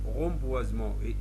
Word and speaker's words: reboisement: difficiles donc regarder pour le s et es se prononcent z lorsqu'il est entre deux voyelles reboisement essayez rentriez et le on le prononce z même chose pour réaliser